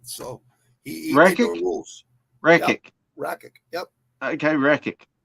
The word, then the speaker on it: Rakic: They say Ratchet. They say fucking it's Rakic. It's Rakic. Rakic. John McCarthy. If John McCarthy says the name right, I know it's right. So he made the rules. Rakic.